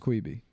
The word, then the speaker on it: Quibi: It's pronounced Quibi. It's pronounced Quibi, dude. It's Quibi. It's Quibi. Quick bite.